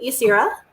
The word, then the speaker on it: Yasira: central character, the scientist, Yasira. Is that how her name is pronounced in your head? Yasira? I pronounced it Yasira.